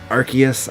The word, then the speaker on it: Arceus: It's supposed to be Arceus, I think, is how you say it. I always say it wrong.